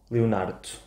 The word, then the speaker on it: Leonardo: Por exemplo, o meu nome Leonardo, Leonardo. Quase não pronunciamos o último O.